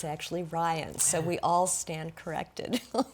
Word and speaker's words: Rihn: saying to Shoshana, I think we all have pronounced her name Shoshana Rihn for the most part, but now we know that it's actually Ryan, so we all stand corrected.